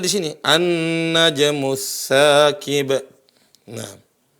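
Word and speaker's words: النجم: Cara bacanya di sini An-najmus saqib. Nah. Jadi ada lam tapi tidak terbunyikan. Enggak bilang al-najmu tapi langsung huruf nun.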